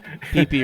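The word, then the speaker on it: pipi: Pee-pee room. It literally said pee-pee room on the outside of the door.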